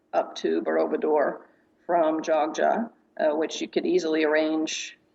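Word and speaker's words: Yogya: jja but strangely enough spelled y o g y but pronounced Joga that's considered one of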